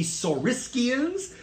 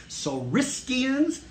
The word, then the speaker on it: Saurischians: One group is called the Saurischians. That is spelled S-A-U-R-I-S-C-H-I-A-N. Saurischians.